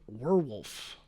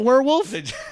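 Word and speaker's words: Werwulf: Robert Eggers says his next film will be titled Werewolf. Werewolf. I think it's pronounced werewolf, but it's spelled weird.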